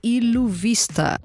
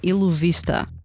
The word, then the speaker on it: Illuvista: lenses two new groups funfare and U Vista or ilu Vista if you want to be less fancy in the pronunciation so yeah we have